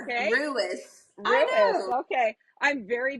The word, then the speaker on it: Ruis: Is it Ruiz, right? Is that how you say it? Ruis, like Ruiz, Louis, but with an R. Okay. Ruis.